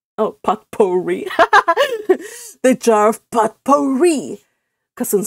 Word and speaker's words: potpourri: The jar of potpourri, Cousin Stickles pronounced it as it was spelled. Oh, potpourri.